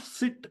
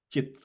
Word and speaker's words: cit: and we know that we use the letter c for the cha sound okay so it is not sit anymore but it is chit okay and in all